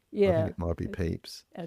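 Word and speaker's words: Pepys: it kind of I don't know how to pronounce his um name properly. The diary of Samuel. Is it Yes. Pepes. Peeps. I think it might be Peeps.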